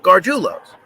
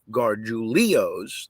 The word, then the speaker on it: Gargiulo's: And it is indeed Gargiulo's. If it was, see, Gargiulo. If it was Gargiulio's, there would be an I between the L and the O.